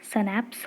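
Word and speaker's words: schnapps: ये है सनैप्स, इसका प्रोनाउंसिएशन सनैप्स होगा, और यही है उनके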